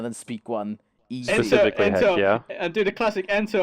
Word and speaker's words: Hekya: And it's Hekya, Hekkya, no C. Not hacky.